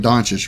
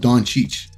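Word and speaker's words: Dončić: uh doncic uh yeah y'all hear how I'm saying donches right I I might have a cool little segment on the pronunciation of Don Cheech well you'll see in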